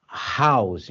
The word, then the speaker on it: house: Que nem o caso aí de house, ó. House. Você falou, o H pronunciou aqui, ó, house. Não é house, é house.